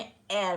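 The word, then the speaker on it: heir: एयर, ठीक है, यहाँ पर भी जो इसके बारे में बात हो रही है उसमें एयर बोलेंगे, एयर, हेयर नहीं बोलेंगे, ठीक है।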